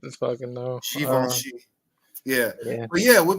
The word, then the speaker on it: Givenchy: Oh, it's So we're American and we're in America, so I call it Givenchy, That's what but I thought. but it's actually pronounced Givenchy.